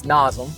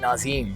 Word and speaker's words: Nazem: And it's Nazem. Yeah. Right? But a lot of people would double the E up and pronounce it Nazem.